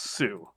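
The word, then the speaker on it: Sault: it's too Saint Marie s-a-u-l-t pronounced Sue I bet the French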